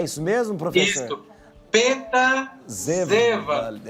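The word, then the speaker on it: Seewald: era americano, Peter Seward, mas ele é alemão, então a pronúncia é Peter Seward, né? É isso mesmo, professor? Isso, Peter Seward.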